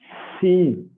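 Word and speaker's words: Shin: Okay, but this, when the dot comes on the right side, it is seen. That is shouting, like when you want to silence a small kid, what you do? That is the sound.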